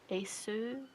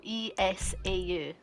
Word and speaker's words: Esau: Asu Asus, the computer brand. No, Esau.